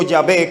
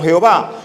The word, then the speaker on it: Yahvé: En el mundo de habla inglesa, durante un tiempo la gente pronunció Yahvé como Jehová.